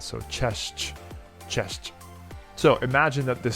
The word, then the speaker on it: cześć: it simple, it's just cześć, which sounds like you're saying chess, but with a ch at the end. So cześć, cześć.